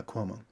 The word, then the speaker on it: Cuomo: Cuomo? Yeah, Cuomo.